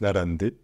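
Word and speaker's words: 並んで: serait narabu en là il se prononce narante alors en japonais lorsqu'on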